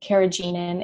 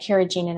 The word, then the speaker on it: carrageenan: And then, you know, anything, and, you know, as far as like the thickeners go, carrageenan, it's an easy one to avoid.